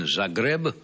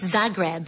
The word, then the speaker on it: Zagreb: recently returned from did I pronounce it right said grab yes Zagreb Zagreb Yugoslavia Yugoslavia have you